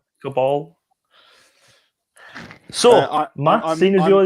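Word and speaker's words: Caballé: It's not going to be Cabral. There's no R in it. All right, Cabal.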